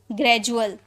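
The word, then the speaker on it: gradual: डी यू ए एल तो डी यू को हम पढ़े जू ग्रेजुअल ग्रेजुअल ओके तो इस तरह से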